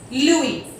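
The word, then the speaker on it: lui: For example, L-U-I, Louis.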